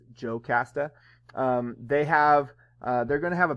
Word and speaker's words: Jocasta: Jocasta is oftentimes in the Greek spelled with an I, but it's Jocasta.